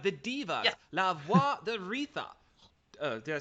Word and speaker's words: Aretha: I said it the American way, Aretha. La Voix d'Aretha. You don't generally in French pronounce TH as a th sound, it's more just the T sound.